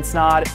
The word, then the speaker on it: Snod: my name is snod it rhymes with odd and I'll see you